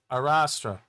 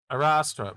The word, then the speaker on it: Arrastra: we as YouTube said when you look up how to say it it says arastra arastra that's a robot saying it but yeah arastra um